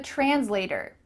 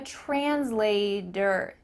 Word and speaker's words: translator: translator i'm a translator do you notice how i added a d in the middle of this word that's because in american english that t often changes to a d so make sure that you say that correctly especially if you're a